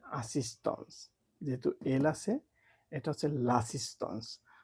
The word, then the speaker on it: assistance: তো এটাকে বলে আসিস্টন্স, যেহেতু এল আছে এটা হচ্ছে লাসিস্টন্স।